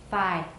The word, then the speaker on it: thigh: Is it voiced or voiceless at the beginning? Voiceless. Phi.